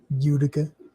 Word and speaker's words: Utica: Utica.